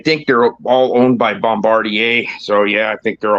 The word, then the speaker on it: Bombardier: All Bombardier. Sea-Doo, Ski-Doo. Yeah. Say it like a real Quebecer. Bombardier.